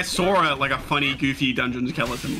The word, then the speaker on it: Skchui: You're supposed to pronounce it skeleton.